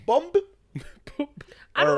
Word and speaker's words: Bumbu: That's because that's why it says Bumbu, because that's how they would say bomba, but it's Bumbu.